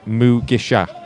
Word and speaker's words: Mugisha: Um whose uh Twitter account, Russell Olympic, has just said guys, it's Mugisha. So I apologize. Masha is Stanley Mugasher is the substitute. I've been mispronouncing.